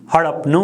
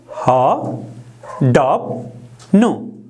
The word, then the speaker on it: हडप्नु: रस्व उकार दिन्छौँ हामी, हडप्नु हुन्छ। यसलाई उच्चारण गर्नुहोस् त ह डप नु, ह डप नु। यसरी उच्चारण गर्नुहोस् हडप्नु। भाइ बहिनीहरूले मसँगै उच्चारण गर्नुहोला ह डप नु, ह डप नु। यसरी उच्चारण गर्नुहोला।